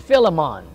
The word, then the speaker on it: Philemon: the little book of Philemon and a fella came up and said man you need to learn your pronunciation I said well what is he said Philemon I said my soul